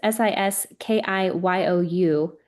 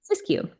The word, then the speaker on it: Siskiyou: I'm going to pronounce this county wrong. It's Siskiou, where there are new Siskiyou. Siskiyou.